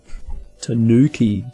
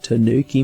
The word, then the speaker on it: Tanooki: mario oh that's right they actually misspelled it so that people pronounce it right like they spelled it as t-a-n-double o-k-i mario tanooki tanooki mario it's obviously a